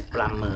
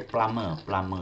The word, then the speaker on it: plumber: Yes, plumber. Eh? Remember that when you pronounce plumber, we don't mention the word, we don't sound the B. Okay, we say plumber.